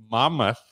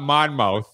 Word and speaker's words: Monmouth: I worked with his group in Monmouth. Did I say it right? Right. It's not Monmouth, which I thought it was, but it's Monmouth.